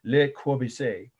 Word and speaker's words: Le Corbusier: Le Corbusier, or Corbusier is how I think it's pronounced there.